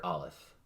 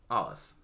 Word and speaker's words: Aleph: And the first letter of that phrase is Aleph, which is silent and which some say is basically the sound of breath.